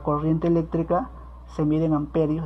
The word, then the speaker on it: ampere: eléctrica se mide en amperios, se escribe ampere, pero se lee amperio, simbología, la letra A mayúscula.